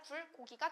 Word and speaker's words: 불고기: 그래서 이런 식으로 수단의 의미를 갖게 되면 경음화가 잘 일어나지 않아요. 그래서 불고기가 아니라 불고기가 된다.